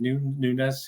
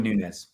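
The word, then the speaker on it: Núñez: to do or well do you pronounce it dude is it Nunez is that I pronounce it let's go with newness yeah so we don't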